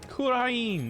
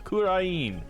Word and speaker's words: Kurain: Kurain, that's what it is, Kurain.